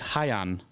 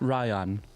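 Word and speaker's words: Rayan: It is Hyan, not Ryan.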